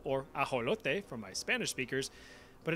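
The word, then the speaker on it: axolotl: You've probably been saying this as axelottle or aote for my Spanish speakers, but it actually comes from the nawat language.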